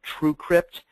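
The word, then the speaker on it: TrueCrypt: options out there there's a free program called true Crypt it's spelled exactly the way it sounds TR CR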